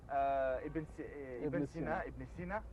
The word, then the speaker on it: Ibn Sina: Avicenne, Ibn Sina, en prononciation arabe, oui.